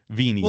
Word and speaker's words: venia: Venial. Well, it comes from the Latin venia. The V would be pronounced wa, which is forgiveness, indulgence, pardon, or favor.